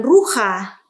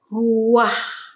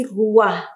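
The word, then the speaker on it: רוח: Nah, ini membacanya bukan ruha, tetapi membacanya dengan ruah. Ya, bukan ruha, tapi ruah.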